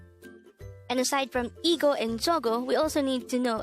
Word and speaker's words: 저거: hangover word number 185 this is pronounced as a two-syllable word the first syllable is so the second syllable is go pronounce it with me the korean word zogo is used to say